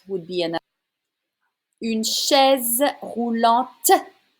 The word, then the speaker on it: roulante: Une chaise roulante. You need to say the T if you use a feminine word. It's an adjective. It's a wheelchair. Une chaise roulante.